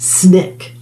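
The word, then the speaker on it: SNCC: coordinating committee on or known as ncc pronounced snick the group emphasized voting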